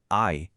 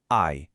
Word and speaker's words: 矮: এর উচ্চারণ হল আই। এখন চাইনিজ ভাষার একটা দারুণ ব্যাপার হল এর টোন, মানে একই উচ্চারণের শব্দ শুধু গলার স্বরের ওঠানামার উপর ভিত্তি করে বদলে যায়। এই শব্দটার জন্য স্বরটা একটু নিচের দিকে নামিয়ে বলতে হবে আই।